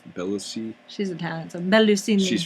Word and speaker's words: Bellucci: Bellusini? Bellucci.